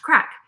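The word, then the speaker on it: craic: my grandparents finally we realized she was saying crack c r a i c pronounced crack and it was a slang word for well everything apparently there isn't anything that isn't the crack in Northern Ireland the UK is where I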